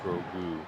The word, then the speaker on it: Grogu: I'm glad the pronunciation was on that read. And Grogu. Grogu? Grogu.